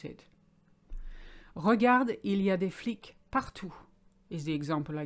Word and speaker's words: flic: for a cop or a policeman it's an flick so flick so you notice the previous one was freak